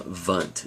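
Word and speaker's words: Wundt: leig Germany by Wilhelm vunt it's pronounced with a v um even though it's spelled with a W now that's not too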